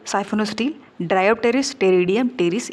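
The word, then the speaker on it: Pteridium: Example होगा Dryopteris टेरिडियम, Dryopteris और टेरिडियम, P silent है, टेरिडियम और टेरिस, अगेन P साइलेंट है, टेरिस।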